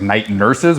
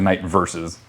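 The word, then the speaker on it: Night Verses: band called uh night I always say the band name wrong cuz I learned it wrong it was like night nurses but it's actually night versus I was like oh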